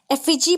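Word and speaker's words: effigy: एफिजी पुतले.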